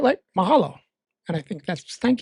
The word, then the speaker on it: mahalo: Mahalo. Mahalo. Yeah, that's I said it right. Light. Mahalo.